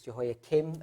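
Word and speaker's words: Jehoiakim: Um it's Jehoa Kim and Jehoa kin. Um that's the technical way of as far as I I'm aware of how you say this.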